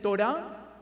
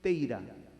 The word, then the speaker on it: Torah: Entonces, en estos los judíos askenazíes dicen Teira. En vez de Torah, la Torah.